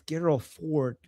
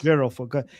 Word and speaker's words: Gerald Ford: If it's Geral Ford, am I pronouncing Gerald Ford? Gerald. Gerald Ford.